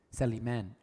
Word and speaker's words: Sulaiman: So okay, Abu Saliman. Is that how you I love pronounce this man. his last name? Sulaiman.